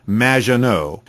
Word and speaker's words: Maginot: It's Madge, which rhymes with badge. As in duh, and no as in more than you. Maginot.